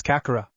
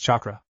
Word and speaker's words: chakra: What's kakura? Naruto asked confused. It's pronounced chakra.